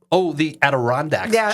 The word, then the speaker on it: Adirondacks: The Adirondacks chair.